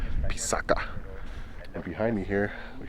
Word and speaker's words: Pisac: Before the Spanish arrived, the correct pronunciation of Pisac is actually Pisaca.